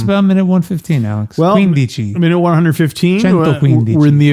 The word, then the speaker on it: quindici: So are you saying quindici because the emphasis is on the first part of that? Okay. Yeah, I'm pronouncing it like it should be. Quindici.